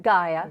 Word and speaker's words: Gaia: book the newest installment in her Chronicles of g a i a how do you say that Gaia Gaia there it is is joining us now